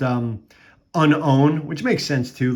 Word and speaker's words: Unown: to be whooper you know i have two unknowns or uh i think the unknown or i recently heard that's actually pronounced um unown which makes sense too like the way it's